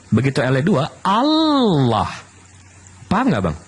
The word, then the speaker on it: Allah: Ada dua L-nya. Bagaimana coba ucapkan lagi. Allah. L-nya dua Bang. H. Tapi kalau L-nya satu kan Allah. Kalau dua Allah. Tidak salah pengucapan, Pak. Salahnya di mana? Itu kan Allah. Oh, kalau di alif alif alif lam lam ha Allah. Betul. Iya. Allah. Tapi dengan tapi dengan double L itu sudah mendekati Allah.